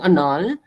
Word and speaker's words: annul: Pag sinabing annul, ipapawalang visa, 'di ba? So iba yung pronunciation niya, 'di ba? Annul.